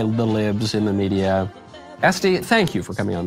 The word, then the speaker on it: Estee: your name I was tempted to pronounce it Este as in louder but it is este yeah no accent though very very American very